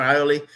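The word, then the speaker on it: Iole: Ioli? Yeah. Is that how you say Kevin Ioli? Kevin Ioli.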